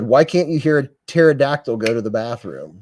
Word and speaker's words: pterodactyl: can't you hear a pterodactyl go to the bathroom the P silent huh the p is silent the p is silent was that a joke